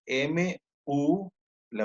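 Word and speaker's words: Müller: llaman células de mula se escribe m u la u con diéresis do l e r muer pero en alemán se dice mula eh bien pues aquí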